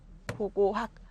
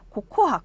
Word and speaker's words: 고고학: 그래서 그들은 고고학을 고코학, 고꼬학, 호고학 뭐 이렇게 비슷하게 발음을 한대요.